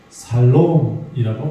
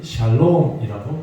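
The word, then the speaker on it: שלום: 같은 의미로 이 단어를 살롬이라고 표현합니다. 이거는 유대인들의 발음이고요. 우리나라 사람은 샬롬이라고 표현하죠.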